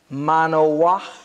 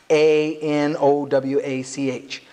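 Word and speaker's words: מָנוֹחַ: This Hebrew word pronounced manoach, it's M-A-A, I'll spell it to you, M M-A-N-O-W-A-C-H.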